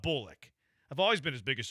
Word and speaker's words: Bullock: There's receipts where I'm like, "Hey guys, start saying it Bullick." Because the pronunciation guy for the Texans even have it. They were wrong. I was right. Texans were wrong about Bullick.